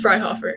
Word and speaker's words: Freihofer: and I forgot to ask Alex the correct pronunciation of your last name is it fry hofk yes fryhofer all right very good Liz fryhofer joins us